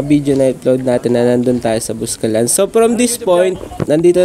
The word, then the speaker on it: Buscalan: ito yung hangin bridge ang tamang pronunciation ng busalan busalan kasi yung tinatawag natin sa atin pero yung mga taga doon ang tamang pronounce nila sa Barangay nila ay buscalan buscalan so ito yung bridge